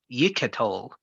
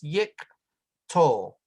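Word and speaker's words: יִקְטֹל: Yiketol. No, this one is silent because this herrick is a short vowel. So that's yik tol.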